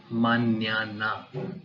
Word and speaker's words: mañana: Alphabet N with this accent mark is pronounced as nya, like we have in our Indian names Manya, Tanya. Just to give you an example, por ejemplo, mañana, tomorrow, mañana.